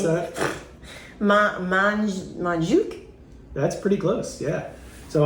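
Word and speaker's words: Montjuïc: Do you want to try to pronounce that? Montjuic? That's pretty close, yeah. So I saw it was Montjuic. Montjuic.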